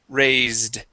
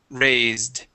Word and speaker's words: raised: this word here okay it is pronounced with a voiced s the word is raised raised raised good nice job very